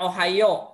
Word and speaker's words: Ohio: Ohio pada tanggal 11 Februari Oke Taki Taki bacanya ohioo Ya Thomas alfedison lahir di Milan ohioo ulangi